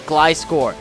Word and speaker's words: Gliscor: It's pronounced Glyscore.